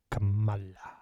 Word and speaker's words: Kamala: Even she said Kamala because that's how it's pronounced. You could say, hey, it's Kamala, but that's just because you put a K